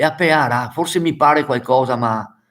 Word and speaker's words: pearà: Pearà, aspetta, la pearà, quindi con l'accento sopra la pearà.